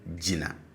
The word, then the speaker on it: jina: Now, for this same verb, for the stative, the tone on both syllables are low. So I say jina, jina, jina, as against ji, na, okay, jina, jina, all right?